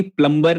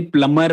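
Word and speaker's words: plumber: बोल रही थी कि प्लम्बर नहीं होता है, एक्चुअली प्लमर होता है. तो मुझे आज तक पता नहीं था सौरभ. मेरे को भी नहीं. अच्छा, बी साइलेंट होता है, मैंने तो कभी देखा.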